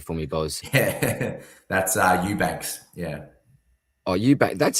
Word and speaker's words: Eubanks: Do you know how to pronounce that name there for me, Boz? Yeah, that's Eubanks.